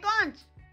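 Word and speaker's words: conch: शंख को इंग्लिश में कहते हैं कॉन्च, कॉन्च। इसके दो प्रोनाउंसिएशन होते हैं, इसे कॉन्क भी कहते हैं।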